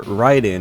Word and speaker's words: Raiden: it's going to be Raiden or ryen as it's properly pronounced on the Atari Jaguar